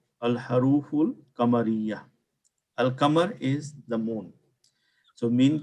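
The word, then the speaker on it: القمر: Difference is, if you look at Al-Qamar, when I say Al-Qamar, I pronounce the Al.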